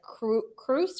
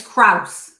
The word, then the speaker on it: Cross: I think they pronounced it like Cruz or Crusay or something. They do? Yeah. Oh, that's not right. It's Kraus. That's what I say.